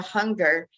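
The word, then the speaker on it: Junger: name but Dr Alexandra hunger um he's a Spanish a Mexican Spanish so um his last name is spelled j-u-n-g-e-r but he actually did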